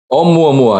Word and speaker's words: Oumuamua: Waldman over here and tell us, how do you pronounce this Hawaiian name? Oumuamua? Oumuamua. Oumuamua, yes.